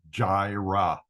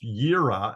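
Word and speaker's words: יראה: with a J, it's Jireh, Jehovah Jireh. Well, in Hebrew, this is pronounced Yirah, and it means to see.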